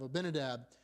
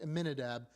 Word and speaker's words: Aminadab: Uh and Ram would go on to be the father of Abinadab. Uh we see that uh or Aminadab, sorry, I may have pronounced that incorrectly. Aminadab.